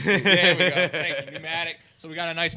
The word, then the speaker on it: pneumatic: We got a nice 6-inch by 8-inch Nunomic. I don't know how to say it. Nunomic. I don't know. You need to, with the air pressure. Pneumatic. Thank you. There we go. Thank you. Pneumatic.